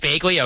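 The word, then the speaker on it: Bagley: I don't even know how to pronounce anything these days, man. Just these guys. It's Begley.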